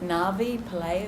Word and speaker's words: Navi Pillay: Is it Navi Pillay? Is that how I pronounce it?